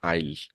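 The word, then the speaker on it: I'll: আই উইল ডু অর সেটাকে বলে আইল আইল ডু এটা সংক্ষিপ্ত হয়ে যায় হ্যাঁ যে জমিতে আইল আছে না জমির আইল সবাই চিনো জমির আইল ঠিক ওই উচ্চারণ হবে এটা আইল তো আমি করবো ইংলিশে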